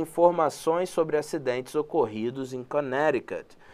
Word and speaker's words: Connecticut: E mais um detalhe só aqui em relação à palavra Connecticut, só para falar, a pronúncia é Connecticut. Connecticut, muito embora se escreva Connecticut, né? Você fala Connecticut.